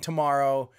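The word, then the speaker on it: TMRO: They do a fantastic production, but it's spelled T-M-R-O, to tomorrow, like tomorrow, T-M-R-O.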